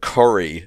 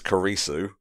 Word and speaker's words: Kurisu: know all this time i thought you were saying curry so as in the food but it's kurisu it's just the